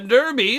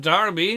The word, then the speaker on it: Derby: Derby, or is it Darby, depends on where you're from and how you want to pronounce it.